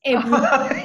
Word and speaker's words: Ebru: Your pronunciation is very good. Ebru.